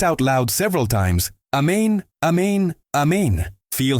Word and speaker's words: Amen: It is not amen like in English. It is amen with the emphasis on the second syllable and with a guttural sound at the end almost like you are saying a main o.